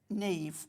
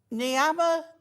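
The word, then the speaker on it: Niamh: went in, and then my Neve is spelt with a H at the end. So is it So- N-I-A-M-H? Yes. So the nurse came out and went, Niama. So hang on, Neve? Neve.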